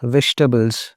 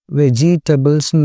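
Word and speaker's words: vegetables: வெஜிடபிள்ஸ்ன்னு நம்ம சொல்லுவோம்ல, அது ஆக்சுவலி ராங். சே வெஜ் டபிள்ஸ். ஐ நம்ம சொல்லக்கூடாது, சைலண்ட்டாக வைக்கணும்.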